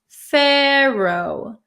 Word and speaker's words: pharaoh: write the letter F we write pH and you have to be careful because there's an a at the end it sounds like an o w right Pharaoh Pharaoh so here's the pronunciation in American English pharoh pharoh Okay an example sentence